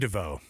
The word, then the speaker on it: DeVoe: And then you can be DeVoe. Thanks for Not to be na not to be pronounced Devo.